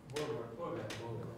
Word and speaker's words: Voorwerp: Can anyone pronounce that? Voorwerp.